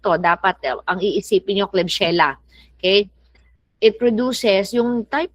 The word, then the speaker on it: Klebsiella: Klebsiella, that's how you pronounce that.